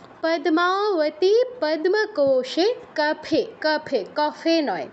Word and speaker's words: পদ্মাবতী: যাচ্ছি 37 কি আছে পদ্মাবতী কেউ বলবো না পদ্মা দ এর সাথে মটা উচ্চারণ করতে হবে দয় বসন্ত